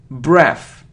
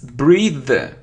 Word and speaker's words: breathe: complete complete look a complete so it isn't breath it's breathe breathe breathe because it's a verb yeah because